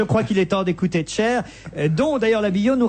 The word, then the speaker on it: Cher: Elle est au Zénith ce soir, Cher, avec quand même 200 concerts d'adieu. Vous marrez pas quand je prononce Cher? C'est pas Cher, c'est cher.